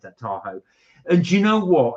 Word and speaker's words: Tahoe: Sorry, I should pronounce that Tahoe.